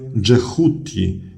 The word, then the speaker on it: Djehuti: Tutaj na górze czytamy Dżehuti, co oznacza Boga z głową ibisa.